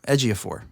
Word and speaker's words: Ejiofor: she went oh yeah she would tell ej4 Ejiofor to it there it is Joshua tell as year four I made myself a pronunciation guide and everything and I will say